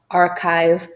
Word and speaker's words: archive: draw students' attention that not always the CH sounds in English will be pronounced as ch. Very often they could be pronounced as k, as is the case with all the 6 words in this handout.